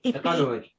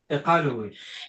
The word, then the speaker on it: Qaqortoq: Qaqortoq. Say it again. Qaqortoq.